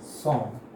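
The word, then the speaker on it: 섬: So yes, so when if you try to pronounce som, just try to speak som. So it will come in one sound packet only, som. Okay, it is som. Just one sound packet is there or one syllable is there.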